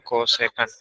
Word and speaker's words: kosekan: Kosek itu bacanya kosekan.